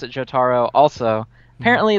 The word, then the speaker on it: Jotaro: because I pronounce it Jotaro also apparently the way you're supposed to say it is Jo duro like Totoro like my neighbor totoro and I will never